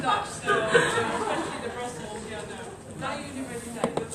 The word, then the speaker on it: Freie Universität: I'm Dutch, so especially the Brussels, Freie Universität. Freie Universität.